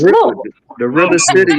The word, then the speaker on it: Louisville: They'd be like Louisville. I'm like, baby, it's Louisville. It's real simple. It's Louisville.